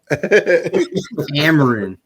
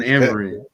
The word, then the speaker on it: Amorim: Amorim. Yeah. Ruben Amorim.